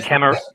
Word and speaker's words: Camaret: pronounce it for me it's french crack just get it right yeah yeah camera camera yes uh it's a silent key because uh my old man is uh from france so we're all we're